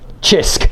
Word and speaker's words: CHISQ: So, but spelt CHISQ. So I guess I could have done that as well. All right, let's move on. Pronounce it Chisk.